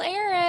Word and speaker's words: Erich: The H is silent but annoying.